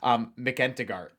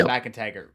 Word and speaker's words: McIntyre: For those who don't know, the way it's spelled, it looks like it's pronounced McEntigart, but it's McIntyre, correct?